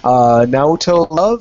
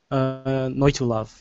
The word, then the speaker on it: Noitu Love: Naoto Love, is that how you pronounce it? Naoto Love too? Noitu Love, yeah. Naoto, I can never pronounce it right. It's like it's evolution backwards, yeah.